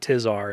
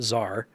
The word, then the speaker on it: Czar: This quest finally taught me that I was pronouncing that wrong. It's not Tizar, it's just Czar.